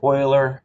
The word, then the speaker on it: Euler: it's spelled within you know this eu it's pronounced euler he was a swiss mathematician in the uh